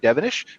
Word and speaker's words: Devenish: So we're welcoming back Devenish from the Canadian Recreational Vehicle Association. Did I pronounce that right?